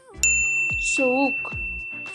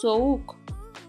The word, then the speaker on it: soğuk: Soğuk, soğuk means cold. Soğuk. And if you want to know why we pronounce it this way, watch the video about yumuşak G.